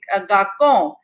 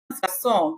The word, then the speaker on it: garçon: in French language, but when it is C with a vowel and you have to pronounce C as sir, then you have to use a cadile below C. So cadile converts the sound into song. So instead of garçon, gacon, it becomes garçon.